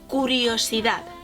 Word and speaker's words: curiosidad: say curiosity in spanish the same letter like english and it goes like similar to english so curiosity in english and in spanish is kuriyoshida oh that sounds cool